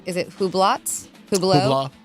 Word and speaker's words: Hublot: I can't spell it. Huracan EVO. Rolex. You know how to say is it Hublot? Hublot? Hubla.